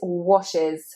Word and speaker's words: washes: So this one is a little bit difficult because that E is not said as any kind of E sound, it's said as I. Washes, washes. And that S sound is said as Z, washes, washes. We actually have more of a Z sound there, washes.